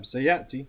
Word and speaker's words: سيأتي: No, sayati. You said it right. Okay, سيأتي. Not with an ayn, no.